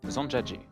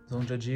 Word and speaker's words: Zhangjiajie: Nouvelle étape, direction Zhangjiajie. Ouais, pas facile à prononcer mais impossible à oublier.